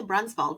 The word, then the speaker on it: Brunsvold: And you know, all this time I I always say Brunbald, but is it pronounced Brunswald or is it brunald?